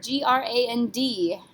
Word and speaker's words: grand: All right, number 4, G-R-A-N-D. How would you say that? D is not a careful letter, so we're going to say grand.